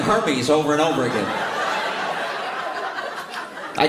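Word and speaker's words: Hermès: Spent money on Hermes. I didn't even know what Hermes was. Luxury bags. Are they men's? Hermes. It's pronounced Hermes.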